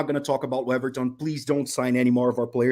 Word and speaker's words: Weverton: Waverton, isn't it? How do you say his name? Yeah, it's Weverton.